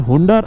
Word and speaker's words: হুন্ডার: হচ্ছে এই ডিস্কিট, তারপর হুন্ডার তুরতুকের দিকে। আমরা ডিস্কিট হয়ে এখন হুন্ডারের দিকে চলে যাব। আমি হুন্ডার বলতেছি, আবার কেউ হান্ডার বলে, ধরে নেন যে এটা উচ্চারণ করতেছি HUNDER, এটা বলতেছি, মনে রাখেন।